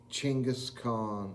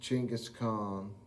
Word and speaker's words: Chinggis Khan: It's actually pronounced Chinggis Khan. It looks like Genghis. It's pronounced Chinggis Khan.